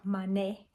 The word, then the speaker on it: Manet: And this one is about a painter, a French painter called Edoir Manet. That's how it's pronounced apparently in French.